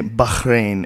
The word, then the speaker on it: Bahrain: population wise you can't say bahin every time right you got event you got to say bahin bahah you know what I mean it's like one of those words like if you commit to saying it correctly every time SP seems like a lot of b a r a i n and um and also